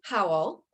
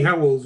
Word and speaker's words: Howells: I am very excited today because my guest, his name is Howell. Did I pronounce that right? Howells with an S.